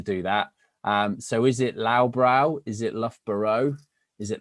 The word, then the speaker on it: Loughborough: So the easiest way of pronouncing Loughborough, so nobody is embarrassed, is actually Loughborough. So, or pronounce Loughborough if you prefer.